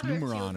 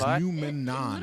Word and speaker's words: Numenon: They're like, it's Numeron or Numeon. Or something like that. It's Numenon. Literally at grand finals of NACT Spring Season, but here we go.